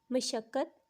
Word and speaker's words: مشقت: ہیں، مشقت اور مشقت۔ زبر اور پیش کا فرق ہے۔ پہلے والے پہ میم کے اوپر زبر ہے اور دوسرے پہ میم کے اوپر پیش۔ تو اگر آپ غور کریں تو اپنی ڈیلی لائف میں آپ جو بولتے ہیں وہ مشقت بولتے ہیں۔ مشقت یعنی کہ ہارڈ ورک، محنت، اسٹرگل، جبکہ یہ غلط ہے۔ اصل میں اس کی ادائیگی ایسے ہوگی، مشقت، مشقت۔ اب اگلا جو